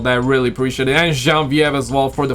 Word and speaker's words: Genevieve: It's Genevieve.